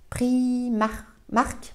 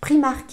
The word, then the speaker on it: Primark: de ces magasins là c'est les prix max prix marque Primark excusez-moi le magasin Primark voilà faut toujours que je fasse une faute de prononciation donc les petits bérets